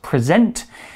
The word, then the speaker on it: present: Now be careful with this word because it's pronounced present, but it's spelled the same as the word present.